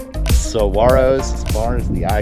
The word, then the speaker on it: Saguaro: national park number nine spelled like this but pronounced saguaro saguaro saguaro national park i'm trying y'all named after